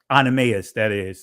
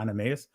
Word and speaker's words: Onesimus: I don't know why I'm fumbling over his name, but Melito and his brother Onesimus, that's how you pronounce it. That's not Onesimus.